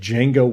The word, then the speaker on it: Django: The D is silent. D is silent, indeed.